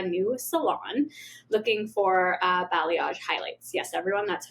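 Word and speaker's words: balayage: gone to a new salon looking for uh blayage highlights. Yes, everyone. That's how you pronounce it.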